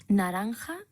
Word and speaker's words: naranja: it's only where's that I've got this ha sound in Naranja Julio and I might